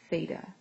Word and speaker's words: theta: So anytime you know the angle measure, we say that it is represented by this symbol which is a Greek letter which is pronounced theta.